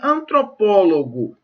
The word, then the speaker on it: antropólogo: Então lá, em antropólogo e fotógrafo, a sílaba tônica recai na penúltima sílaba? Não, gente, cai na antepenúltima, né? Olha lá, ó. Antropólogo, fotógrafo, há 2 sílabas depois da sílaba tônica. Então não pode ser a penúltima, ok?